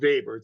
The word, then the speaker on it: Weber: the same it's pronounced vber it's a pronounced it's pronounced B it's spelled Weber but it's German so it's pronounced yes got it it's